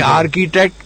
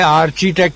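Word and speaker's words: architect: یعنی آرکیٹیکٹ کے بجائے آرچیٹیکٹ کہہ دیتے ہیں, آرٹیٹیکٹ کہہ دیتے ہیں.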